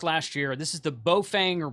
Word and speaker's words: Baofeng: This is the Baofeng or Baofeng, I think is how you say it, supposed to be.